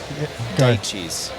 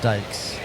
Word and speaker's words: Dyches: been saying it forever D cheese D cheese that's that's a new one how do you spell it d y c h e s it's dutch but it's pronounced Dykes D oh plural like